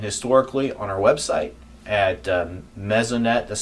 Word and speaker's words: Mesonet: So all the weather data we collect is stored and available publicly, real time and historically on our website at Mezonet, that's spelled MESONET.ksu.edu.